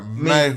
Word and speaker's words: mehu: You pronounce this word mehu. The chick make that ooh sound, right?